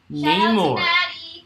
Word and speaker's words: Neymar: names like no nay it's not nay like any why like no more there's some man phonetically that's not right but neymar i think looks pretty